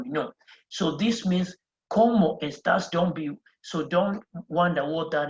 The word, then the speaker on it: cómo: And again, you see that pointed accent there? It means there's going to be a stress on that letter there. There's going to be a stress on the O.